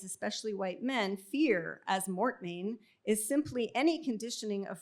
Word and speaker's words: mortmain: the undemocratic impacts of, I'm going to call it mortmain, because I assume that's what Americans say, which is the dead